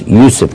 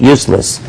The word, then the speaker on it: Yusuf: My name is Yusuf. Can you say Yusuf? Yusuf. Well, you said it right the first time. My wife been married to me all these years. She still says useless.